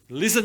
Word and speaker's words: listen: Listen to me, ya. Ada T-nya tuh di situ sebenarnya kan, LISTEN, tapi T-nya nggak disebut tuh.